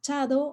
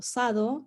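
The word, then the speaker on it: 茶道: otras formas de nombrarse, y un chado o sado se escribe así, con kanji, y se puede pronunciar de estas dos maneras, Ujú.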